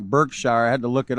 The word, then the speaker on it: Berkshire: This 6-year-old that it looks kind of like Berkshire. I had to look it up because I wasn't even sure how to pronounce that, but it's actually Berkshire, United Kingdom.